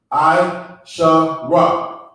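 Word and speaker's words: עשרה: So you're gonna pronounce, you're not losing anything on the last sound, okay? It's gonna be I-Shara, okay?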